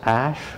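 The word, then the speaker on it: Asche: Next door to it was a building with the name the Ash Building. It wasn't spelled the same. It was spelled A-S-C-H-E.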